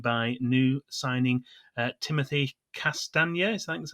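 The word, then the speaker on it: Castagne: he was joined by new signing uh timothy castaneda that's how you pronounce it who's a 24 year old belgian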